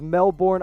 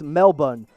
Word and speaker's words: Melbourne: this video going up it's melbourne not melbourne they they beat it out okay so melbourne melbourne australia might that's how you say it right there if i get